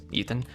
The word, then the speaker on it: Ethan: little hard to say because my real name is Ethan, not Roger. So, you know, it's kind of hard for like little kids to say because pronouncing a TH is not the easiest thing.